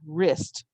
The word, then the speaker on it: wrist: no next word with our silent letters is wrist the sounds are r is okay now my wrist can twist and turn do you remember when you have the r sound that's a twisty turning word it's spelled with a w r like i write or